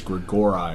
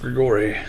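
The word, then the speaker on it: Grigori: of angels known as Greg or I or Watchers I thought that was pronounced Grigory you know it might and once again not an expert on Latin pronunciation never mind I gotta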